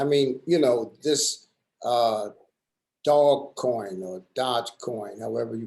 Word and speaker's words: Dogecoin: I mean, this dog coin or Dodge coin, however you pronounce it. Dogecoin. Dogecoin.